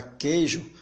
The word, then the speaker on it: queijo: vogais mas observe que quando você pronuncia a palavra queijo o ele não tem ele não tem um som pronunciado logo ele deixa de ser triton esse é o